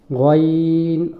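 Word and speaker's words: غ: এটা হচ্ছে গইন। গইনটা স্বাভাবিক বাংলা গয়ের মতো, গইন।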